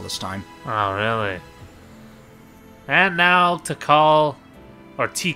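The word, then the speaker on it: Tikal: living beings all this time really and now to call our tea call it's pronounced to call t call that sounds like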